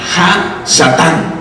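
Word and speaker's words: הַשָּׂטָן: Oiga bien, Satanás viene de un nombre hebreo o de un verbo que se pronuncia Ha-Satán, que significa uno que está en oposición.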